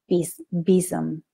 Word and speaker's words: besom: And I was like, is it, it's a besom, it's a basem. And then right before I wanted to come on to you all today, I was like, what really is the pronunciation of this? And so I looked it up and apparently it's besom.